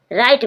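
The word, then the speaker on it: write: राइट means लिखना। डब्ल्यू आर आई टी। डब्ल्यू के बाद आर आया। W silent ring ring means निचोड़ना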